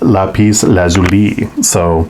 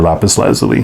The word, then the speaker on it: lapis lazuli: And the companion stone for this is lapis lazuli, or lapis lazuli, depending on how you pronounce it.